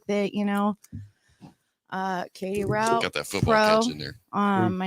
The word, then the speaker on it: Rout: route as in p-a-p-e-r-r-o-u-t r-o-u-t is my last name no e at the end it's pronounced route so that's like yeah